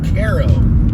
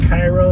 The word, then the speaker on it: Cairo: future too coming into the town of cairo it's spelled like cairo but in nebraska it's pronounced cairo one of